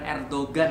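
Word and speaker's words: Erdoğan: Osman ini adalah anak daripada Ertuğrul, tulisannya Ertugrul, tapi orang-orang Turki itu punya G, yang G-nya itu agak-agak rahasia. Nah, jadi bacanya bukan Ertugrul, bukan Erdogan ya. Erdogan itu ya air degan gitu ya, bukan Erdogan tapi Erdogan.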